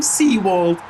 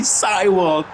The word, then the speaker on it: Seiwald: I keep calling him Seawold, but it's actually Seiwald.